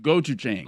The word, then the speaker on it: gochujang: pronounce it? Gochujang? Gochujang.